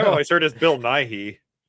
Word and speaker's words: Bill Nye: Bill Nye.